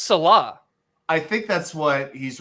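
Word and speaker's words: Saleh: It's pronounced Salah.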